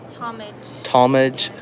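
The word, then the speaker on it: Tallmadge: Talmadge.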